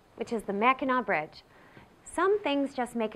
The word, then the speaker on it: Mackinac: And just so you know, it's not pronounced Mackinac, but rather Mackinac, a pronunciation that harkens back to the early days of this area when the French ruled here.